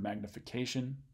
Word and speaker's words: magnification: So this is going to be the stressed syllable in the word magnification. Magnification. So that's where the accent goes.